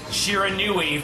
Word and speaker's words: Shiranui: but I will try my best to always pronounce it Shiranui from now on.